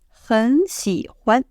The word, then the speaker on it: 很: So the right way to read them together is 我 have a pause. 很喜欢 change 很 to second tone.